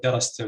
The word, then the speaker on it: darastum: So we say darastum and we say katabtum, both have stress on the first syllable in the word.